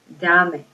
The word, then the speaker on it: dame: Let's say you add a pronoun, dame. You look at this because you're adding a syllable, so you're adding another syllable, so where do you stress your voice?